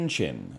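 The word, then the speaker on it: qin: Called the, well, let's see what Wikipedia has me pronouncing it as. A kin? It's chin.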